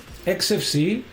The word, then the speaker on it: Xfce: XFC pronounced as four individual letters is a free and open source desktop environment for Linux and other Unix likes operating systems.